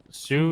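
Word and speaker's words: Sault: It's spelled like s a u l t by the way. What? It's not laughing. Sue is spelled s o. Sorry. S a u l t. S. Sue. St. Marie. Sult. Sue. Sue.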